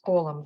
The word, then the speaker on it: column: is not pronounced letter n is not pronounced nelson's column the capital letter they are